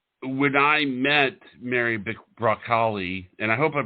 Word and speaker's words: Bracale: it repellent you are it's italian it's italian from italy so sell it so we didn't thank you b-r-a-c-a-l-e recalli beautiful italian of course